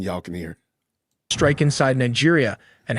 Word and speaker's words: Niger: Niger Republic. Sorry, you know, it may look like Niger, but it is pronounced Niger because it is French.